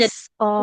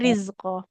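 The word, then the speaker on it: رزقا: Huruf zai Iya, sukunnya jangan jadi sin ya. Tidak iya jadi risko. jadi ini ya, Ustazah ya. Oke, risko. Nggak Oh, risko, tapi rizko. Dia waris. eh, satu tempat memang satu makhraj dengan huruf sin. Cuman kan kalau huruf sin itu ada aliran nafasnya. Kalau zai nggak ada ya.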